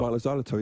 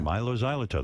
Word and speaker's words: Mylo Xyloto: Mylo Xyloto, yeah. Mylo Xyloto, that's yeah.